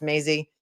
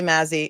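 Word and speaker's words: Mazzei: He says I disagree with Judge Mazy's uh Maisie. Actually it's pronounced Maisie to me. I'm Italian. I would say Mazy.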